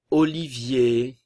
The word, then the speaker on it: Olivier: Olivier, le E et le R final, le son E.